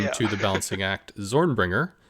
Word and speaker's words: ZornbringerZ: to the balancing act, Zornbringer, with a silent Z at the end.